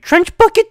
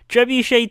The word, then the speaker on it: trebuchet: and everything keeps breaking trench bucket two trench bucket trebuchet 2 see when you say something wrong once as a joke it just now i keep on saying it wrong trebuchet 2 keeps on